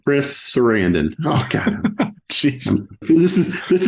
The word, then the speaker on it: Sarandon: that's right right yeah say it like you'd say Susan's name Chris Sarandon okay Jesus this is